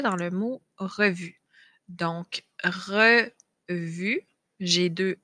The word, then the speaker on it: revue: Donc, le E qu'on va retrouver souvent en fin de mot et qu'on ne prononce pas. C'est le cas du E dans le mot revue. Donc, revue, j'ai deux E.